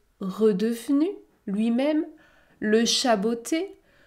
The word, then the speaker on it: redevenu: l'ogre redevenu lui même je ne prononce pas le e2 redevenu redevenu lui même le chat